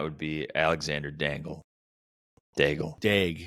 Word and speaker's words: Daigle: Dag. Definitely not Dangle. Yeah, Daigle. It's just drafted pronounced Dag.